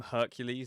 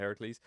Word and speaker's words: Heracles: I call them Hercules instead of Heracles.